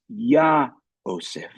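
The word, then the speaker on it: יהוסף: In fact, the psalmist here adds this letter Hey, so that when it is pronounced, it is Yah-oseph.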